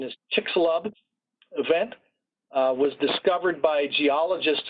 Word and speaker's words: Chicxulub: That crater is known, I think the pronunciation is Chicxulub event, was discovered by geologists a few years back.